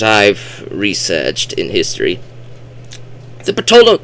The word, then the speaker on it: Ptolemaic: researched in history, the Ptolemaic, Ptolemaic. I often would pronounce the P back in the day, but you're not supposed to pronounce the P.